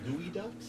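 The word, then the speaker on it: geoduck: uh you dig down gooey ducks have you ever heard of a gooey duck spelled g e o duu c k I don't know why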